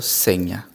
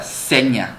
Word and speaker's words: Zegna: marca hermenegildo seña segundo la marca se pronuncia seña es con n seña conviene porque es la pronunciación italiana no sé si lo